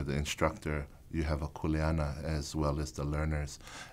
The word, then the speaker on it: kuleana: or the knowledge of kuleana. Kuleana, correctly pronounced, and not kuleana, but kuleana simply means your role or responsibility, whether it be within the ohana, in the traditional sense of family.